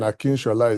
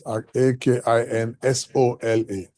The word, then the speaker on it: Akinsola: and then Akinshola is spelled without an H. So it's Akinsola.